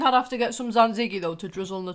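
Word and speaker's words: tzatziki: that pronounce it wrong it's not tatziki tziki it's Zan zigi so come again for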